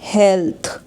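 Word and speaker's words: health: यह हो जाएगा मदर यहां पे लास्ट में टी एच है तो थ साउंड आएगा हेल्थ अगर वर्ड के बीच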